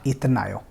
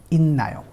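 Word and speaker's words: 있나요: तो यहाँ पे इसका प्रोनाउंसिएशन चेंज हो जाएगा न में और इसको हम पढ़ेंगे इन्नायो, नॉट इतनायो, नॉट इतनायो, इन्नायो।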